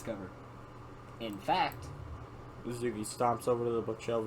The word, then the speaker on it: Natsuki: features- You say that Natsuki and the T is silent for that, but the T right there, no, that ain't silent.